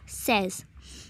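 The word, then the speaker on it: seize: the pronunciation is cease and the 16 is pronounced as says now going on to the operator table let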